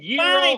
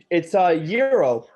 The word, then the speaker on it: gyro: No, is it No, gyro, or gyro? It's Euro. So the G is silent. Gyro, like that.